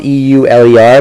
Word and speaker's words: Euler: I'm glad you found the video for 3.9 Euler line now it's spelled e-u-l-e-r but it is pronounced Euler and he is